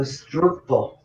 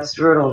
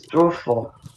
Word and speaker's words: Strudel: But the Germans pronounce it a strudel. Not strudel, it's strudel.